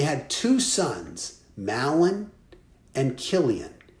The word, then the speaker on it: Chilion: So Elimelech and his wife Naomi, and they had two sons, Mahlon and Chilion. I know it's spelled CH, but it's really a K sound, Chilion.